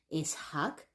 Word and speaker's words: Isak: popular but did you know that the original pronunciation in of this name is isak just recently people started callings isak for probably